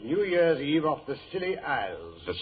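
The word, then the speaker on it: Scilly: Year's Eve off the Silly Isles. The Silly Isles? That sounds appropriate. Doctor, the name of these particular islands is spelled S C I L L Y.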